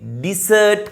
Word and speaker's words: dessert: පළවෙනි එක තමයි මං කිව්වේ desert. desert නෙවෙයි අතුරුපසට ඉංග්‍රීසියෙන් කියන්නේ dessert කියලා. That is the correct pronunciation.